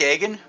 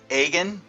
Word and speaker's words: Agin: back for another episode this this is Frank aen that's Frank aen a g n founder and president of Am